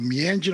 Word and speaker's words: Meanjin: I now live in Brisbane, or Mirigen or Meanjin, I should say, for the better pronunciation, is the land of the Turrbal and the Yagara people.